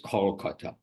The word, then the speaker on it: Kolkata: Everyone called Calcutta, but the local pronunciation anyhow was Kolkata.